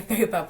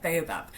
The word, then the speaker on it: Baobab: Yeah, Babaab Works. So yeah, founder of Babaab Works. Yeah, Baobab.